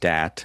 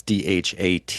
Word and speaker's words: Dhat: There's also one called DOT. I've heard it's pronounced DAT too. It's DHAT.